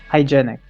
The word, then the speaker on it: hygienic: far from appropriate or hygienic i i how do you say that word hygienic hygienic but there's an eye there hygienic it's a sign it's a silent eye okay hygienic to cover